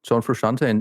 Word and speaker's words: Frusciante: John Frusciante. Oh, I am never going to pronounce that right.